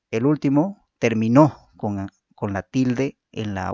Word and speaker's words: terminó: El acento es un rasgo diferenciador de palabras que según la sílaba donde se sitúe origina cambios significativos a las palabras. Gracias a la presencia del acento en una u otra sílaba, producimos palabras con significados y funciones distintas.